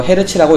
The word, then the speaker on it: 헤르츠: 이거 헤르츠라고 읽습니다.